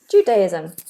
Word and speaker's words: Judaism: Jew, like a little W, Judaism. Z sound.